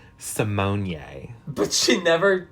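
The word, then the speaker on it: Symoné: Also, her last name is not Raven Simone. She is Raven Simonier.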